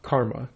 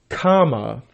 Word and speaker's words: kama: Oh, excuse me, not karma. They believe in kama, not karma.